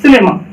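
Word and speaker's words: cinema: सिनेमा। ऐसा क्यों हुआ? क्योंकि सी के बाद क्या है? आई है। तो इसलिए सी के बाद जब आई आ गया तो सी का उच्चारण क्या हो जाएगा? सौ।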